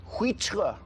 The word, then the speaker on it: huître: OK, if you ordered huître in a French restaurant, what type of seafood would you expect to be served?